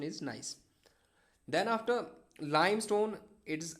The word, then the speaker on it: gneiss: This is gneiss. Okay, its pronunciation is gneiss.